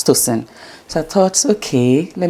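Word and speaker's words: Tocyn: C Y N pronunciation is sin, you know, as toen.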